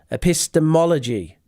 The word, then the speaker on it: epistemology: that by the way pronunciation epist mology epistemology we got the M here M epistemology so match